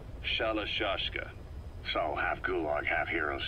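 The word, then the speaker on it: Shalashaska: end of sure aashka the guerrillas were using the name amongst themselves by the time I got to hearing about it pronunciation had wound up as shallow juska so half gulag have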